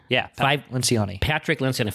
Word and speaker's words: Lencioni: Lencioni? Yeah, Lencioni.